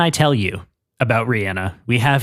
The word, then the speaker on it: Rihanna: question that I always ask, her name is pronounced Rihanna, not Rihanna. Everyone has called her Rihanna, including myself, which I will probably do accidentally at some point during this episode. Right. It is actually pronounced Rihanna, which she has said multiple times in interviews,